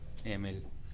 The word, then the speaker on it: Emil: Emil. Emil. Much like the rapper Eminem, Which I'm not playing.